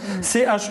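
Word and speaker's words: Schueberfouer: Alors Schubert-Foire, ça s'écrit comme ça se prononce, hein. Chuberfour.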